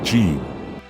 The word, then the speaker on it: jin: Pronounced, jin.